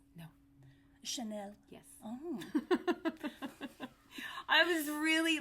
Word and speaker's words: Chanel: no is that how you say it um Clarence no Chanel yes oh I was really like I'm getting